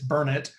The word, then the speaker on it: Burnet: It's not Burnett, it's Burnett.